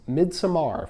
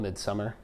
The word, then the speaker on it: Midsommar: And the next movie I watched did that, and that was Midsommar from last year. It's actually called Midsummer, but it's fun to mispronounce words.